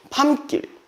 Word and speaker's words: 밤길: 밤길. 얘 발음 어떻게 했대? 밤길이라고 하잖아. 뜬금없이 되냐고. 아니죠. 저 이거 뭐라 설명했냐면 혹시 기억나세요? 이거 기억나시는 분 있어요? 있어? 없어? 있어? 뭐? 중간에 시옷이 숨어있다. 맞아요. 중간에 시옷이 숨어 있어요.